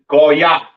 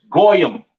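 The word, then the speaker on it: גוי: Pronounced in the Hebrew Goya. Goa. The Yiddish man says goyam or or or whatever the hell he says. That's not the proper pronunciation for the word gentile in Hebrew.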